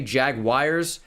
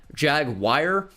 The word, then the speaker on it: Jaguar: 84 overall team also if you say Jaguars I don't understand you and I don't like you jagwire why would that be wired its Jaguar I I almost understand the British pronunciation of Jaguar more than jagwire I hear people say jagwire and it befuddles me beyond belief up 14 nothing over